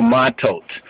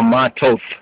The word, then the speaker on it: Matot: reading is from Negadoch, called in the Hebrew Matot, or Matoth, right, as some Ashkenazi Sephardics pronounce.